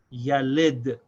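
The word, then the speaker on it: يلد: This is pronounced yalid.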